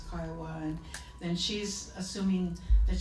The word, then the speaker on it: Kiowa: getting everything wrong and pronouncing his tribe Kiowa, and he says, no ma'am, it's Kiowa, and then she's assuming that she knows what Indian is.